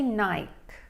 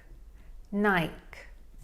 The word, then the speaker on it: Nike: And let's take a look at how Andrea would say this, because in the UK they pronounce it differently. In England, we say Nike. Nike.